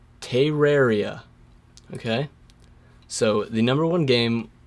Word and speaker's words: Terraria: It's Terraria.